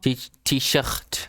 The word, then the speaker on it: T-shirt: With the French R. T-shirt.